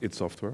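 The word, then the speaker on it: id Software: So IT Software, for people who have you, I assume everybody here knows Doom. So IT Software is a company that created Doom. It's pronounced IT Software, I'm not sure why, but it is.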